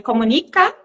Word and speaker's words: Komunik: Então, não é errado falar comunica ou comunique.